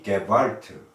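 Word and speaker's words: Gewalt: 지역과 자본의 게발트 독일어로 게발트라고 발음하지요.이 지역과 자본의 개발트를 넘어 평화로 나아갑니다.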